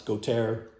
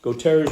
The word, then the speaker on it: Gautier: Gautier's version is quite good, and I believe that's how his name is pronounced. It is not pronounced. I don't know if you can see the name here anywhere. It looks like Goeth's. It's not. That's Gautier.